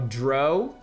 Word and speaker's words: drow: As you're wondering about how to pronounce drow, it rhymes with um bow or Oh, drow. It's actually drow. I always thought it was drow, I guess, cuz drowsy.